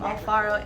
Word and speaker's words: Alfaro: saying we have your name and have you spell it my name is alvaro s-h-i-r-l-e-y i'm alfaro a-l-f-a-r-o and your title sir my title is